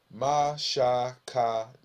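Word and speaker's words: מִשְׁכָּן: And the most popular word that one of the most popular words was the word H4908, which is Mashakana, which when you pronounce it, Mashakan.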